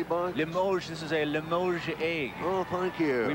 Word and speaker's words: Limoges: How do you pronounce that? The Limoges-style jewelry box? Limoges. This is a Limoges egg.